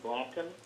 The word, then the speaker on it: Blanken: the um letter from uh tommy blanken and that's how you pronounce it and are you expecting